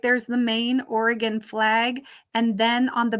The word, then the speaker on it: Oregon: So make sure you spell it Oregon, Oregon, not Oregon. It's Oregon. And it isn't Oregon either. Oregon. It's more of an I sound.